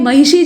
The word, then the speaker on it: महिषी: चाहते हैं तो आपको मूर्धन्य श बोलने के लिए अपनी जबान को अपनी मूर्धा में ले जाकर ट्विस्ट करना पड़ेगा मोड़ना पड़ेगा यानी आपको